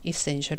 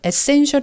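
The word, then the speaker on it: essential: scl 아주 필수적이라는 얘기죠 이센셜 은 이것을 에센셜 이라고 우리가 많이 하는데 에센셜 여기 뒤 엑센트가 있기 때문에 이것도 이 애가 원래 는 강세가 들어가며 내가 에 발음이 나는데 이익의 2 로 바뀝니다 그래서 so make the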